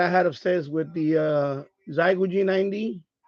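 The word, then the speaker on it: Xiegu: This is the computer that I had upstairs with the Zygo G90. Or the Shegu G90, how some people pronounce it.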